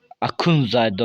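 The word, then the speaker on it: Axundzadə: Bu arada Akunzade'dir arkadaşlar. Akunzade. Türk dilinde. Akunzade okuyor onu.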